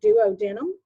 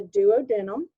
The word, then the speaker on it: duodenum: This first segment of the small intestine is called the duodenum or duodenum. It'll be pronounced 2 different ways.